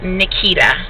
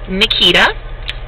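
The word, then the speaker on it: Neketa: what is my name my name is Nikita um a lot of people don't know how to spell it because my mom spelled it a little different she spelled it n-e-k-e-t-a so that's my name Nikita so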